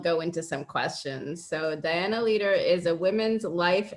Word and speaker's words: Dianna: Did I pronounce your first name correctly? It's Dianna.